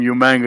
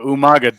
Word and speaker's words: Umaga: wrigley used to do he would call him you manga because for people that don't know he would regal used to like mispronounce people's names and uh umaga dared william riegel to